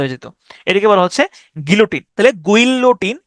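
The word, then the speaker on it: guillotine: graffiti বাংলাও হচ্ছে graffiti গিলোটিন এই শব্দটার উচ্চারণ হচ্ছে গিলোটিন এটাকে আপনি উচ্চারণ করতে পারেন এভাবে গুইলোটিন গুইলোটাইন গুইলোটাইন জি ও জি ইউ আই এল গুইল লোটাইন এল ওটি আই এনই গুইলোটাইন গুইলোটাইন হ্যা বা গিলোটিন গিলোটিন মানে হচ্ছে এটা এটা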